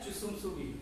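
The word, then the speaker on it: 주춤서기: We write it as Jusum, लेकिन pronunciation कैसा है? Chusum Sugi.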